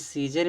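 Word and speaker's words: Caesar: इस सीजर में दोस्तों जो यहां पे जो ए दिया है ना इस ए क्या है? साइलेंट है। इसको सीजर पढ़ेंगे।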